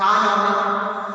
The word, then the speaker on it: honor: Actually here the H is silent.